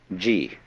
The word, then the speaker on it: Ji: First of all, there is a level of being which we will call Ji. The word Ji, which is Japanese way of pronouncing the Chinese Chur, is the world of things and events.